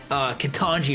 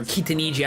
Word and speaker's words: Kitaniji: He's his proxy, because he was playing a game with Kitanji or Kitaniji, I don't know. I realized I've been pronouncing his name wrong for forever. I like saying Kitanji better, though. It just sounds better.